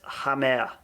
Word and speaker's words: Hamer: I'm moving more towards Amer now. Yeah, I saw a video of him pronouncing his own name. Oh, you did? And he says Hamer. He says Hamer, right? Yeah, there's a H in there.